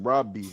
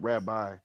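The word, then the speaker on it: ربي: Yeah, but it's pronounced Robi, not Rabbi.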